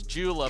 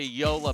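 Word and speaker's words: Joola: a new paddle folks if you think you bought the new ben john's jula paddle you're not saying it right it's a yola paddle he's got that dialed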